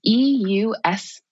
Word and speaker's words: eustress: it's EUSTRESS. So like the U prefix meaning good. So it's eustress. It's the opposite of distress, which is bad stress.